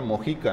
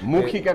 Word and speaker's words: Mújica: decíamos ahorita es música con acento en la u porque luego no falta quien diga Mojica Así es Mújica con música con Mujica